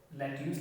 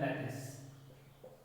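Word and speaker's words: lettuce: लिखा तो ये है लेट्यूस लिखा हुआ है पर इसको हम पढ़ते हैं लेटिस।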